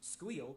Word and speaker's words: SQL: Structured query language or SQL pronounced squeal by the in crowd is the primary programming language produced to manage with relational database.